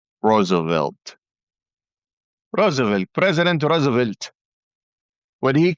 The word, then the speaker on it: Roosevelt: The Saudis like to pronounce his name as O'Rosavelt instead of Roosevelt.